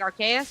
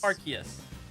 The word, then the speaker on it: Arceus: Well, isn't there like I don't know how to pronounce his name, but isn't it like Arceus or Arceus? Arceus.